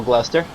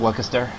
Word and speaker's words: Gloucester: it it's class they're my favorite cheese as a child was double gloucester at the time i did think it was doubled Waka stir I apologize I apologize